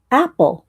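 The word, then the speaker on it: AEPOL: Apple. It's pronounced Apple.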